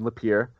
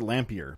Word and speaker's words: Lapeer: be doing Robocon in Lapeer uh it's up here I would have pronounced it lamp e'er by the way that's